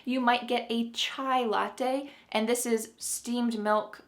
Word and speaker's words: latte: Our final Italian word today that is used in English is latte. Latte. Notice how this word, if you are Italian, you've noticed this word is sounding English, it's not sounding very Italian anymore, but when you go